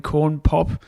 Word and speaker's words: Corn Pop: when he was fighting corn pop and uh call pop's right isn't it corn pop is correct all right put respect